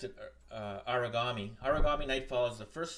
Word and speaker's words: Aragami: Aragami.